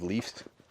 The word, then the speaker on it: leaves: We use the letter V and pronounce it VV plus the S making a Z sound like in zebra.